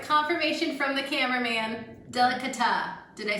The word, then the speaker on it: delicata: All right, confirmation from the cameraman, delicata. Did I say it right? Confirmed. Delicata.